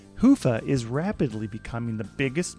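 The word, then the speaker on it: Hyvä: company T Commerce is sponsored by hia or as the Europeans say Hua or the right way to say it hufa is rapidly becoming the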